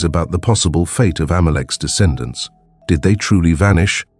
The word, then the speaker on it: Amalek: In Hebrew, it is pronounced Amalek, and in both Hebrew and Aramaic biblical texts, they are described as Israel's sworn enemies.